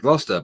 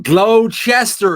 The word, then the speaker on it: Gloucester: it New England or whatever and they they pronounce it Gloucester but when I met Americans in Italy where I was working with your Navy yeah they were going glow Chester a shire no there was no sure on